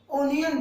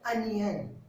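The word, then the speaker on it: onion: English में कई लोग ओनियन बोलते हैं, कई लोग और कोई वर्ड बोलते हैं, लेकिन याद रखिएगा आज से प्याज को इंग्लिश में बोलेंगे अनियन। इसका सही उच्चारण है अनियन।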